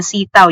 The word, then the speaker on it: Seataoo: But, ganun po ang pagkakabigkas sa kanya, sitaw, yung parang sitaw na gulay.